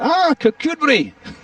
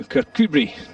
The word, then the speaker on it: Kirkcudbright: called, hold tight for this, you'll enjoy it, Kirk Cudbright. And I was trying to explain it exactly. He said, eventually, literally half an hour later, Kirkcudbright.